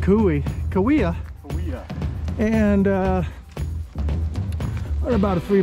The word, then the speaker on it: Cahuilla: it again oh yeah korea i said kui kawia and uh about a three mile hike it's